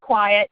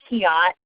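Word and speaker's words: QIAT: qi8 e dot org and yes it is pronounced quiet not ki ott or all the other things that people want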